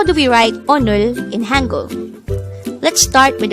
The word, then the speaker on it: 오늘: 79 this is pronounced as a two-syllable word the first syllable is o the second syllable is pronounce it with me the word onor is an adverb of